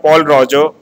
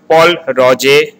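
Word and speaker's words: Pol Roger: It is not called Paul Roger. It is called Paul Roger.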